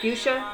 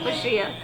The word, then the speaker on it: fuchsia: is uh for shia fuchsia i guess it's fuchsia i don't know why i said pushya oh i just looked at it and pronounced it the way it looks i guess fuchsia so